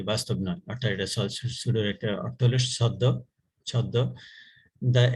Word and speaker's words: pseudo: সুডো code, উচ্চারণটা হবে সুডো।